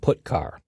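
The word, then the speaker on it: putchar: character IO functions are gitar and putar that's how I pronounce them gitar fetches a character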